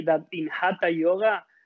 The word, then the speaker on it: Hatha: Hatha Yoga comes from a syllable, two syllables, ha and tha. Ha is the sound in Sanskrit for the sun, plus. And tha is the syllable for the word moon.